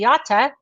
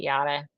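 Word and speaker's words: Yotta: But I will be speaking at the Data Center Dynamics YATA conference, and I'm going to say YATA for my buddy George Rocket, and even though everybody else pronounces it Yada.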